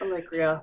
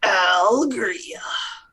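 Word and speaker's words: Alegria: It's Allegria, but we pronounce it Algaria.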